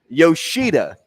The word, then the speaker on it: Yoshida: Yoshida is how you pronounce.